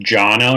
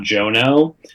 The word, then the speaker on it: Jono: It does not bother me at all, but my name is pronounced Jono, not Jono. And it's something that, like, if you read my name first, it's the first, phonetically it should be Jono, but like I did